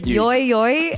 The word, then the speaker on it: Yui: So it's Yui, right? Yeah, Yui. Because there's Yoi and Yui.